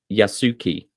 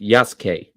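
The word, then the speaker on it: Yasuke: Well, that's that's the thing though is that the U is not silent. It's just crushed.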